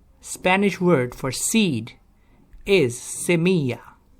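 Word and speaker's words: semilla: like to say Spanish word for seed is Samia not similar Samia double-l in Spanish is pronounced as yeah Samia and Spanish for tree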